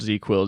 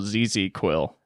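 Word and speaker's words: ZzzQuil: Damn, you're so redneck, you called Z-Quil ZZ-Quil. Yeah? Is that not what it's called? Because you love ZZ Top. I've only heard it called Z-Quil. Yeah, I pronounce all the Z's. I think it is like a ZZZ. Yeah. Z. Yeah, you say all the Z's. Nobody does that.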